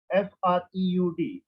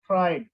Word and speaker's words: Freud: First, you have to keep in your mind the name of Freud, F-R-E-U-D, in Hindi and English. You have to pronounce same, Freud, Freud, fry बोलना, fry करना, उसमें ड और लगा देना, Freud.